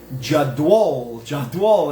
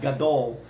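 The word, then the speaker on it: גדול: They give every letter a unique pronunciation, so it's like Jadwol, it's not Gadol, it's Jadwol, and it opens up your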